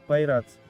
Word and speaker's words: PI-RADS: Шкала PI-RADS (читается как «пай-радс», сокращение от Prostate Imaging: Reporting and Data System)